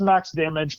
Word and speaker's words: MX DMG: secondary one that's uh it's pronounced Max damage but it's like MX DMG uh which is a